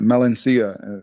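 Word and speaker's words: melancia: But it's a it's a position that uh my my professor calls the watermelon the watermelon positions or mel melania is how you say it in uh Portuguese.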